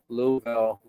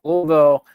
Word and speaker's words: Louisville: up, but you know, we're Louisville. We got to practice that one, Dan, because if we don't say it right, boy, when you're there, they really get you. But anyway, Louisville, uh is a great town.